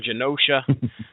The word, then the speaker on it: Genosha: Now the setting here is they're in Genosha or Genosha. I'm going to pronounce it with a soft G. They're in Genosha.